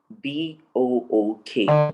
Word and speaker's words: book: like book b-o-o-k book even though it is double o some persons would assume that it is supposed to be pronounced o because it is double o it is o o it is not pronounced that way in fact it is pronounced as oo the short o sound so you also have